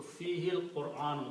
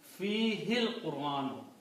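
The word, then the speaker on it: فيه القرآن: So when you read together, you do not pronounce the alif, but you combine this ha with the lam.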